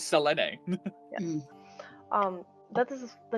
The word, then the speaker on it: Selene: I always want to say Celine, but it's not. The original pronunciation is Selene.